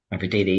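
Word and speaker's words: Mavididi: Is that correct pronunciation? Mafadidi, yes.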